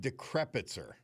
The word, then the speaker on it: Decrepitzer: He's written a book, and it is The Last Decrepitzer. And am I pronouncing it correct? Right, Bob, and it'll make it easier for you to remember because embedded in the name is decrepit.